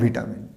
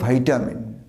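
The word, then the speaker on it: vitamin: কীভাবে গণ্ডগোল আছে, এই ওয়ার্ডটাকে আমরা উচ্চারণ করি, এর দুটো উচ্চারণ আছে। একটা হচ্ছে ব্রিটিশ, একটা হচ্ছে আমেরিকান। আমরা যেভাবে শেডিউল ওইভাবে, এখানে হচ্ছে ব্রিটিশে হচ্ছে ভিটামিন নর্মাল, যেমন ভিটামিন বলি তেমন ভিটামিন। কিন্তু আমেরিকান এটার প্রোনাউন্সিয়েশন ভাইটামিন, মানে দুটোই কারেক্ট। এর ভিটামিনও কারেক্ট, ভাইটামিনও কারেক্ট।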